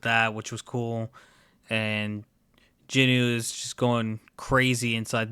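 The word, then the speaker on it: Jinwoo: a real that um jinmu is how you americanize it's like a mispronunciation of the name it's actually jinu which I guess the W is silent so jinu he's in the created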